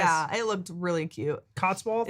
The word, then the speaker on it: Cotswolds: It's like Clothsworth? Cotswolds. I want to live there, damn it. I think that's how you say it.